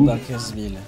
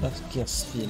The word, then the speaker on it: Bakersfield: Bakersfield, ouais. J'ai mal prononcé. Bakersfield, on devrait dire en anglais d'ailleurs. Non, j'ai très mal prononcé. C'est Bakersfield. Field.